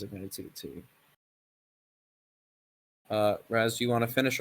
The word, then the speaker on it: Raz: Also, I would like to reiterate, since I've seen some confusion, it is pronounced Raz, not Roz or Rouse or anything like that. It's pronounced Raz.